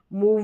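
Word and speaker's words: move: मूव में उ करके।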